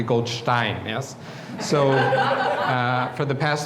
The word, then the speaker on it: Goldstein: I used to be called Goldstein, as I was introduced 35 years ago, until I realized after 3 weeks in Germany, I was saying my name wrong, and it's actually Goldstein, yes?